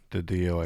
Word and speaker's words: DiDio: Is it Didio? Didio? Didio, yeah, D-I-D-I-O, Didio.